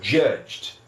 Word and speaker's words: judged: Então, nesse caso, eu só coloco o D, quando for no passado, judged, né? E aí, a pronúncia dele também fica só com som de D.